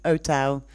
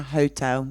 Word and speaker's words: hotel: pronounce an example uh-huh hotel is an is a strange one because in in the past so my grandparents generation talked about Ann hotel now we say our hotel we pronounce it thank you our yeah